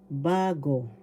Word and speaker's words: bago: patinig example halorin bagorin first syllable ba second syllable go bago the first syllable has the accent and is one syllable